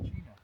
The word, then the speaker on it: Chena: How do you pronounce it again? Chena.